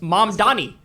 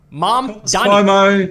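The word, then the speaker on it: Mamdani: It's mom Donnie. Mom Donnie. Mom Donnie. It's not that hard.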